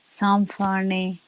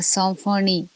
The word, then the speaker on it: symphonie: Remember that YM and YN are pronounced as nasal La symphonie. Symphony. Oh, La symphonie.